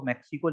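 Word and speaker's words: Mexico: इसको मैक्सिको लिखा जाता है बट इसका करेक्ट प्रोनाउंसिएशन जो होता है वो मेक्सिको होता है।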